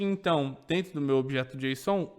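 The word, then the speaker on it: JSON: que nós chamamos de objeto Jon se escreve J s o n Ok esse objeto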